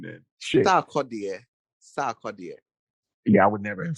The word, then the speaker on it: Sarkodie: It's a song she did with Sarkodie.